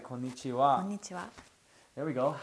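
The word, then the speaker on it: こんにちは: Hello is konnichiwa. Ah, that's an easy one. Konnichiwa. No, you put too much emphasis on nichiwa though. It's konnichiwa.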